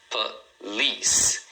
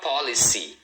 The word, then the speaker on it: police: Police. Police. Tá vendo? Duas sílabas. Police. E a segunda é a mais forte, tá? Então, a pronúncia é police. Então, a primeira sílaba é bem rapidinho, é mais suave. Um detalhe aqui é o seguinte, cuidado porque muita gente fala policy, acaba lendo as letras.